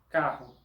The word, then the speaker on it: carro: El dígrafo RR, doble R, que aparece entre vocales en portugués, tiene sonido de la J del español. Sonido de ja, he, hi, ho, hu. La palabra carro en portugués es pronunciada carro.